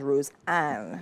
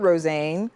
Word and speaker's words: Rosanne: like hm not rosane so which is it TI is right rosan oh God so em pronounced it as rosan oh wow so you probably get a lot of different different Roan roxan roxan so it's rosan rosan just say Rose is fine but now so You'